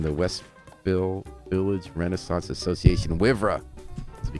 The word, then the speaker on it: WIVRA: Is that how we say it, WIVRA? Yes, definitely how you say it. I've been saying WIVRA. That's how you say I've been saying WIVRA for 8 years now.